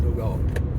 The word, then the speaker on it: Nogal: That's how you say it, Nogal.